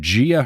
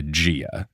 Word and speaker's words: Gaia: demigods cannot take down a being older than Gia herself. Have we got to the part? Have I told you how I called Gaia Gia? Because of the this is new. Audiobook narrator wildly calls Gaia Gia in these books.